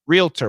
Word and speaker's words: realtor: real realtor realtor and sometimes realtor with two syllables but it should be three realtor realtor realtor who